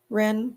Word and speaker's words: Rennes: Is that how you pronounce Rennes? No S sound at the end?